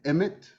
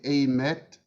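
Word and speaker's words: Aemeth: significance to you um okay so i will pronounce it as emmet okay or some people actually draw it out and say amet h is science silent so it's not a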